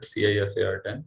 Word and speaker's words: CIFAR-10: that is effort and some also do pronounce it cifar10 so if whatever you like you can pronounce like that so it is a